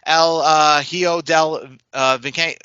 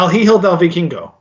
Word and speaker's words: El Hijo del Vikingo: El Hijo del Viking. You know how to say that name, right? I say it wrong. Yeah, El Hijo del Vikingo.